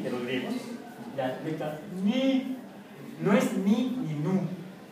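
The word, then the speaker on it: ν: n es como la n de los griegos ni no es ni ni nu di Ah la nu griega No no es nu dice la ni No no es ni es ni Pon la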